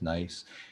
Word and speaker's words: NYeC: york ehealth collaborative um i think it's pronounced nice their nyec is pronounced nice and that that provides